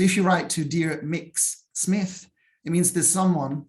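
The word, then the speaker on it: Mx: want you to know that it exists it's pronounced mix and this is in the same way that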